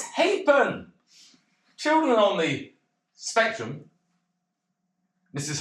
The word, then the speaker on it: Halfpen: Harburn." Why do THEY DO THAT? IT'S NOT HARBURN, IT'S HAPEN. I know it's spelled Harburn, but it's Hapen.